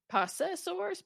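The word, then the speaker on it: Possessor(s): Possessors.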